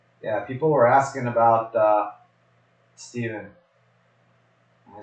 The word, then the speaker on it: Stephen: So Steven, like a V, right?